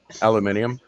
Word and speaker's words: aluminium: ] h in it how do they say aluminum in australia aluminium oh what where's that minimum aluminum or olive